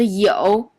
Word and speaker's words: 有: So 有 if you don't know, write down the pinyin. It's what is spelled like Y-O-U in third tone.